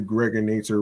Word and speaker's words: Gregonator: I'm your man, aka the Gregonator, rhymes with now or later, and I appreciate every single one of you.